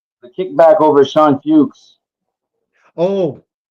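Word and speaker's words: Feucht: Oh, I finally know how to say his name. Fo. I've heard him say it. Fo. Okay. Yeah. Like like ho. H O Y T. F. F O Y T is the way I've heard.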